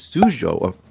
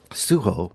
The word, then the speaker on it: Sujo: here this week is suo see I said it wrong suho directed by astd I'm